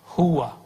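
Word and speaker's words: هو: Huwa. Ya. Tapi dari dulu kita bacanya hu.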